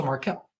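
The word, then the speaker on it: Markelle: that makes sense um you pronounced my name wrong it's the same way as fols oh so Marquel Marquel fols um okay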